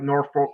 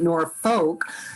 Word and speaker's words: Norfolk: it in the maps they misspelled it like norfolk virginia so if you're from norfolk you call